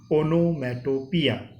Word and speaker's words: onomatopoeia: The spelling and the pronunciation is little bit different, but keep in mind the pronunciation of this word is onomatopoeia.